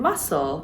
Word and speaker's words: muscle: And muscle has a silent C in English, but you would pronounce that in French, muscle.